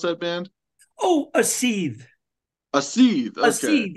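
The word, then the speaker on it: Aseethe: How do you pronounce that band? Oh, a seethe.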